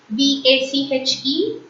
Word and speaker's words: vache: V-A-C-H-E is vache. C-H in French is pronounced as ish. So it's vache.